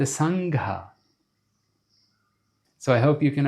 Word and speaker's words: Sangha: Not the Sangha, but the Sangha.